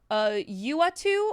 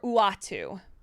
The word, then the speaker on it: Uatu: The Watcher's name is pronounced either Uatu or Uatu.